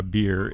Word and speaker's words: bier: And specifically, a bier is a movable frame on which a coffin or a corpse is placed before burial or cremation, or on which it is carried to the grave. Rhymes with beer.